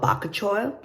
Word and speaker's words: bakuchiol: it's got these ingredients that I can't even pronounce one is called bakachoil which I'm gonna spell it you can help